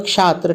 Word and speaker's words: क्षात्र: देखिए उच्चारण में अंतर होता है, यहाँ छात्र है, यहाँ क्षात्र है, यहाँ पे जो है क के साथ उच्चारण होता है क्षात्र।